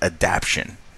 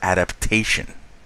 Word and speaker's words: adaptation: He would always pronounce this as fast adaption, and it is not fast adaption. It is fast adaptation.